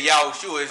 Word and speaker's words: Yahushua: sure so we say yahushua's name is Jesus right but we say yahushua cuz we know that in the in his original language which was hebrew that's how you would pronounce his name all right through the